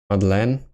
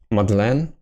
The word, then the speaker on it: Madeleine: I added this because I thought that Madeleine can, I think in English, be pronounced as Madeleine. And so I wanted to add a first name to give a more French appearance, so that if somebody wants to look at the name, they would immediately assume it to be French, rather than try to pronounce it English first.